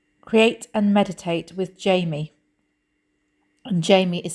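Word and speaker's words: Jayme: a YouTube channel called create and meditate with Jamie and Jamie is spelled j a y m e and it's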